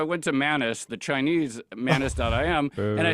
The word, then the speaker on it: Manus: So I went to Manus, the Chinese Manus.im, and I said, can you put this together?